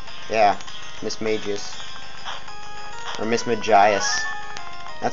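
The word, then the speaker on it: Mismagius: never pronounce it cuz the show calls it Miss magius but that's like a name who would call it that's just I call it Miss Magus though like a mage yeah Miss Magus or miss magias that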